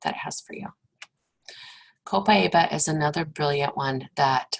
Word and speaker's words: Copaiba: You'll hear some people say it Copaiba. That's okay. That just means they're from another country than I am. So Copaiba or Copaiba, right?